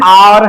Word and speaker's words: hour: शुरुआत भले ही एच से हो रही है लेकिन एच क्या है, साइलेंट है। ये एन आवर है, क्या है ये, आवर है।